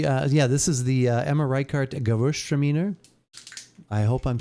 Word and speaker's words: Gewürztraminer: We carry, this is the Emma Reichart Gewürztraminer. I hope I'm saying that right. I know I'm close. But, maybe... It is pronounced Gewürztraminer. Gewürztraminer.